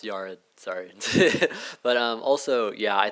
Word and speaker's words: Yared: First, it's pronounced Yared.